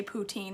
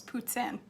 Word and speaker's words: poutine: make something yummy for supper amber you say poutine that's wrong it's puts in oh ask a frenchie they'll tell ya it's